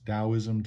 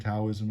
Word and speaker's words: Daoism: So, of course, Daoism, Taoism is the same, just slightly different ways of pronouncing it.